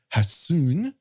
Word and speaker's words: Hassun: And when it comes to this particular episode's title, Hassun, when you see 2 consonants together in Japanese, you have to pronounce H.